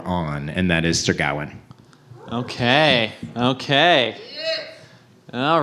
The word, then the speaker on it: Gawain: It is Gawain? Ha! What? All right. I looked up the pronunciation.